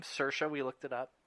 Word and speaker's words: Saoirse: you pronounce her name Saoirse we looked it up it's like inertia she's had three nominations